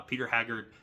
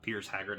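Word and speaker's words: Piers Haggard: Uh Peter Haggard, uh Pierce Haggard, I think is how you say his name.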